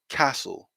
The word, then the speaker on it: castle: sound like we said so it's castle castle focusing on as well the long uh castle castle okay but again we